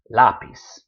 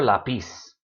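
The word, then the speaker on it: lápiz: no confusion no problems lapiz never la peace Otto who's never out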